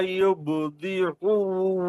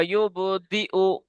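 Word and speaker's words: يُبْدِئُ: ইন্নাহু হুয়া ইউবদিউ ওয়া ইউঈদ আরেকবার পড়েন। ইন্নাহু হুয়া ইউবদিউ ওয়া ইউঈদ। আমার দিকে খেয়াল করেন, এই যে ইয়ার উপরে এটা কি অক্ষর? হামজা। তা হামজা আপনি আইন উচ্চারণ করছেন।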